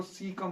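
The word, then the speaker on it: caecum: इसको सी कम बोलते हैं, सी कम, सी कम। ये चीज ए आपका यहाँ पे साइलेंट है। आप बोलना तो चाहिए से ही कम या के ही कम, है ना, कुछ ऐसा बोलना चाहिए।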